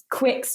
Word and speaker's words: Quicke: yeah um but yeah it's totally just a silent E that um you can imagine it's just not even there and that's how you pronounce it um and then um the cheese is quick traditional cheddar and it's